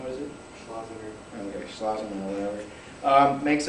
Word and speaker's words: Schlesinger: Vice Chairman Leonard Schlesinger, I don't know how to pronounce his last name, what is it? Schlesinger.